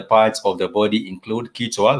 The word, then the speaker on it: kichwa: When you're talking about the head, like I said, the head is simply kichwa. The head is simply kichwa, and it's spelled Kichwa.